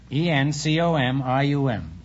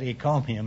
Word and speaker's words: encomium: for some curious reason i said econium instead of encomium and i got a